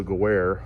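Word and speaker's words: Gewehr: Will not hold the Guerre, that's how you pronounce it, the G98.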